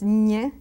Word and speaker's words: ñ: Now you see that on top of that N becomes Ñ, and it's like you put the tip of the tongue on top of your mouth.